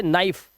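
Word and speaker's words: knife: इसी तरह से नाइफ। नाइफ में के साइलेंट है क्योंकि एन से पहले आया है तो के का उच्चारण नहीं है और सिर्फ नाइफ।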